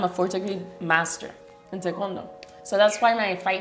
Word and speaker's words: Taekwondo: Taekwondo. Yeah, because I say Taekwondo. I say that too. That's Korean martial arts, right? It's a Korean martial art, yes. And I'm a 4th degree master in Taekwondo.